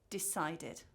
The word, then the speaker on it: decided: And then we have id. So these are infinitives that end in t or d. So for example, decided, needed, visited, chatted, or lifted. So again, remember, students will